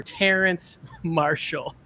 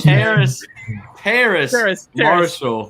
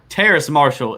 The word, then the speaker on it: Terrace Marshall: The Carolina Panthers select LSU wide receiver Terrence Marshall. Yeah, Terrace Marshall. Sorry, go which ahead. is I always pronounce it wrong because it I don't know, it's different. But Terrace Marshall is different himself.